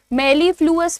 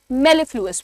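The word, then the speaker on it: mellifluous: मेलफ्लुस मत बोलना। मेलफ्लुएस बोलना।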